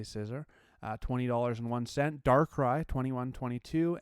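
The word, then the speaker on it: Scizor: the ho GX 1839 scissor or czor depending on how you say it I say scissor uh $201 dark cry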